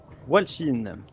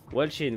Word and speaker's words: Walshin: Ou Walgin, je sais pas comment on prononce ton pseudo. Walshin. Walshin, voilà, merci.